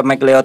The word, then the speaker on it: McLeod: tentang perjalanan dari tiga bersaudara mcleod Widya berdaya bacanya mcleod Ya next betul-betul karena nih tiga bersaudara mcleod